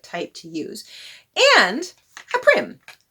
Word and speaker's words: Prym: And a Prym. Some of you said it's pronounced Prym. I thought it was Prym, but all right, Prym.